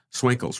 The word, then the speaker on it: Swinkels: So, please join Daniel and Ni and welcoming to the podcast Swinkles. how are you? I'm good. I'm good. It's nice to hear you pronounce my name, but it's you did it perfectly well.